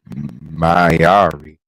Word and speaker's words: Mayari: She is the Divine Reaper, Mayari. You said it right. Yeah, I know, right? Thank you. You are welcome. Welcome in, Mayari.